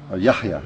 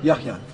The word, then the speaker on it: Yahya: Yahya. Yahya.